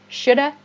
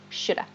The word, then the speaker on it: should have: is like okay shouldn't shoulda in the positive you should apologize to her you should have apologized her i should have studied for the test so this have sounds like just uh shoulda shoulda okay also a native